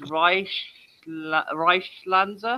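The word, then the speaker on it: Reichskanzler: It's Reichslanzer.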